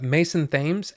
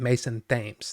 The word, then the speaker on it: Mason Thames: amazing they they really are good and uh Mason Thames as as Finney uh and that is by the that is how you say his name Mason Thames that's how he pronounces it so just saying